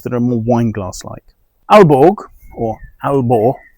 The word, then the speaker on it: Aalborg: Alborg or Albor as I think it's more correctly pronounced in Danish is a brand that belong to Danish distillers.